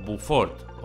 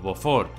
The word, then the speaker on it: Beaufort: y alaska tenemos el mar de beaufort bufort beaufort hubo focos pues eso bufó que esto es tan francés y ya sabéis que los franceses se inventan la pronunciación entre alaska y asia